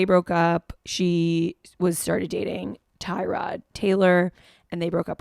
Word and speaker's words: Tyrod: But then in 2018, one of his teammates told a reporter that it's actually Tyrod, not Tyrod. Tyrod, emphasis on the rod and instead of Ty.